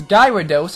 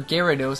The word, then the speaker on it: Gyarados: this gyos or Gyarados I say gyos I got a Gyarados on named a guy gyos gyos man gyos sometimes for the LPS we do I mispronounce the names of Pokémon cuz I mispronounce them on purpose in real life then mispronounce them by